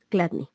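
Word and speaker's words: Chladni: video de placas de se escribe c hla d n y latina cladni así Y entonces qué es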